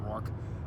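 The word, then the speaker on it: Rooker: case you don't know i believe it's it's pronounced rook uh in case you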